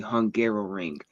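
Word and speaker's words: Hungaroring: everybody to know if you don't know the name, it is called the Hungarrow Ring. It So it does sound like I was just mispronouncing Hungary trying to say it a second time.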